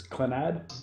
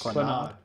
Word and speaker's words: Clannad: So, so this is how do you pronounce this? It's Clanad. Konami. Clannad.